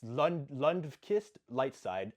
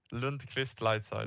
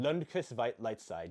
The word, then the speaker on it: Lundqvist Lightside: It's Lundqvist Lightside, silly American pronunciation. Can you just pronounce it for me? Lundqvist Lightside. Lundqvist Lightside. Yes, okay.